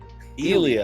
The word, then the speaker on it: Ilja: The J is silent. No. Mexican. What? Say it like Joe Rogan. Or say it like how do you say his name? Ilya. That doesn't spell Ilya, guys.